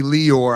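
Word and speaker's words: Lior: it's technically Leor. I think we changed it in the community to Liar.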